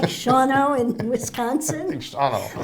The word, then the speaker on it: Shawano: Well, Sheboygan, you actually pronounce everything. It's Shawano, Which but is it's SHAWANO.